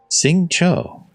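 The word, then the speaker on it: Xingqiu: Sing Cho. Sing Cho. I have been pronouncing that Sing Chow, I think.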